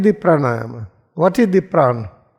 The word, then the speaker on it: praana: What is the praana? How we pronounce praana? P R A A N A Praana.